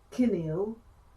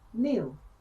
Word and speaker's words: kneel: Don't say kinneal, say kneel.